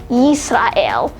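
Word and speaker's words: ישראל: And finally, we have Israel, which is pronounced as Yisrael.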